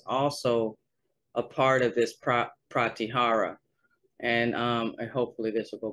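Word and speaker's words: pratyāhāra: It's called the Pratyahara. That's how you say it, Pratyahara, like how the robotic voice says it.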